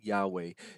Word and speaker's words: Yahweh: that that of course if it's pronounced today the way we pronounce it is Yahweh his name is Yahweh